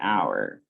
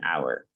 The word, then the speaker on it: hour: mistake okay next an hour an hour okay so use and or vowel sound this is silent h and then you start